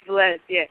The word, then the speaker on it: Vélez: I'm terrible at pronouncing her surname, but yes, Ivelisse. Yeah, Ivelisse Vélez.